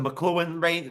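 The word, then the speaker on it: Makluan: The McLuhan race, remember that's how they pronounce it. It's McLuhan. Okay. Luan. McLuhan with a K. McLuhan. Almost like a Scottish last name, like a Scottish name, right?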